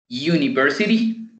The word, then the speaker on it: university: Así que en este caso, la pronunciación de estas palabras son uniform, escuchen bien, uniform y no you. University y no university.